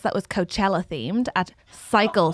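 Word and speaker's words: Psycle: The other day I did a class, a spin class that was Coachella themed at Cycle, spelled Pacycle. And Wait, spell it.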